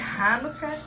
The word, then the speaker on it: Hanukkah: Começa Hanukkah amanhã. Hanukkah. Para quem não sabe o que é Hanukkah? A pronúncia é Hanukkah e a gente fala Hanukkah, né?